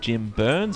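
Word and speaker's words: Byrnes: is being played by jim burns i assume that's how his name is pronounced it's burns with a y um a rather surprising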